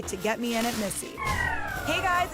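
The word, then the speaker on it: Misi: After the success of her first solo venture, Lilia, an Italian restaurant in Brooklyn, she recently opened Missy, pronounced like her name, but spelled differently.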